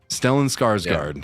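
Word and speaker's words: Stellan Skarsgård: The first name is Stellin. The last name is Scarsgard. Scarsgard. Stellan Scarsgard.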